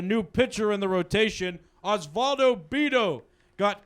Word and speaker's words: Osvaldo Bido: Osvaldo Bido got called up. Can you spell that?